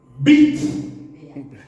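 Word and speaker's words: Beat: Alors, Monsieur Maurer, Bit, Béat, imagine qu'en anglais c'est Bit.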